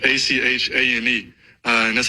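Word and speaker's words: Etienne: on the radio and he was calling him Eddie. Eddian, the the kid for um he's a running back, but that's not how you say his name. It's Achan.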